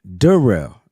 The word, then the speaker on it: Darrell: That's how it's pronounced. There it is. And then you got Darrell, right? Darrell.